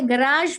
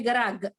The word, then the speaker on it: garage: ये garage में ये G का sound ग का sound है और ये जी का साउंड ज का साउंड। अगर आप सिर्फ जी को ग समझ लेंगे तो इट विल बी गराग।